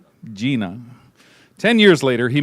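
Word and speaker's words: Jena: I pronounced that right? Yes. Gina.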